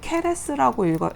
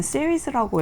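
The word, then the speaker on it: Ceres: 이게 되게 재밌는 게 얘네가, 그러니까 우리가 말할 때는 케레스라고 읽잖아요. 그리스 신화 이름으로는 케레스인데 영어로 읽을 때는 시리스라고 읽거든요.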